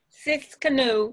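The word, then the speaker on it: Tsidkenu: being r-a-p-h-a and jehovah's siskanu is p-s-i-d-k-e-n-u take that last word with uh spelling again that please it's six canoe it's spelled t t like in tony s-i-d-k-e-n-u s-i-d what k-e-n-u okay all right i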